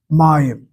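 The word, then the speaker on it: מים: Notice how I'm pronouncing it. May Hebrew Hebrew accents on the last syllable, but this case here is on the second to last syllable.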